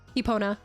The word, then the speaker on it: Epona: Epona.